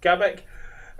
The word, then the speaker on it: Gabrek: Is that how you pronounce it? Mm-hmm. Gabrek.